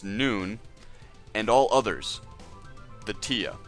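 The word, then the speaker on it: Nunh: Breeding males, pronounced noon, and all others, the tia, pronounced t.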